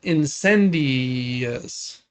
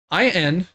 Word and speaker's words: Incendies: It's called Incendious. Incendious? I don't know how to pronounce it. Incendies? Incendies.